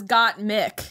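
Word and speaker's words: Gottmik: say got milk well that's how they're pronouncing it is got mick yeah and they're like emphasizing both well uh trixie keeps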